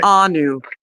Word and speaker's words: Keanu: So, canoe Reeves I'm sorry. Can How do you say it? How do you say it? It's It's easy. It's easy. Kanu Kanu.